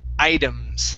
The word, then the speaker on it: items: The word is items. Okay, so that T is going to be a flap T sound or like a D sound.